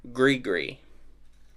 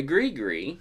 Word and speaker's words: gris-gris: I read it, a gris-gris, it's spelled g r i s g r i s, but pronounced g r e e.